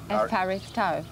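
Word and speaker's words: ευχαριστώ: Say F. F. F. Harry's. Harry's. Toe. Harry. F. Harry's toe.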